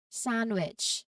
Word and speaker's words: sandwich: So for the letter D, the key is to recognize these specific common words and the DG and ND combinations. So while D is usually pronounced in these particular cases, it remains silent. Knowing these exceptions will help your pronunciation sound more natural.